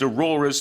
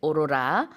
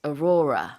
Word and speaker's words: aurora: what all right so in Korean we say aora but in English it's orora that's right Aurora the the emphasis is on the second syllable now Sue did you